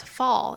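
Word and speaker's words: phở: And for anyone who doesn't know what fa is, it's spelled ph.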